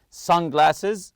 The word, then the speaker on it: sunglasses: accessible front front compartment sunglasses also the word Sun you have to stress the first part here some people like